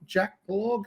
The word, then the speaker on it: jachLog: you decide to write Jack log and is that am I pronouncing it right jack log yeah it's it's it's what I think is is the best pronunciation in English right okay good yeah